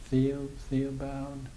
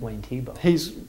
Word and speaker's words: Thiebaud: there's a fellow out west, Wayne, and I can never pronounce his last name, Theobald? Wayne Thiebaud.